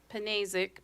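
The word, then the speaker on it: Pnazek: Panazek, P-N-A-Z-E-K, is the Vice President of Transmission Development for Invenergy.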